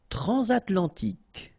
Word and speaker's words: transatlantique: Transatlantique. Okay, so at the end, tic. Remember, Q-U-E-K.